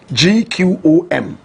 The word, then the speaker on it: gqom: big fan of Boom correct pronunciation clone gqom they say it with a click of the tongue Jerusalem is you know